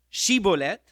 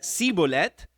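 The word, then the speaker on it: Shibboleth: no Entonces le decían ahora pues di shivolette y él y él decía cibolette porque no podía pronunciar correctamente Entonces le echaban mano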